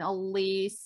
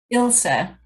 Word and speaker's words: Ilsa: And I know you told me your name, but it's a different one, Elisa. Ilsa.